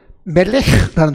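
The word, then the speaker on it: מֶלֶךְ: 정확히 히브리 발음대로 하면 이렇습니다. 왕이라는 단어는요, 왕. 히브리 단어에 멜렉라는 단어가 있습니다.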